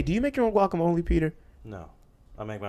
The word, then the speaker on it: guacamole: Hey, do you make your own guacamole, Peter? No, I make my own salsa. Okay, I need someone who, if you make guacamole and your guacamole tastes very similar to the Chipotle guacamole, hit me Is it up.